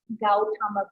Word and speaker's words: Gautama: Au is A-U, like Gautama Buddha, Au.